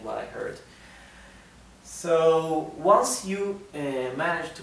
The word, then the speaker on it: yo: s h therefore the pronoun I yo is pronounced show in Argentina in the Uruguay the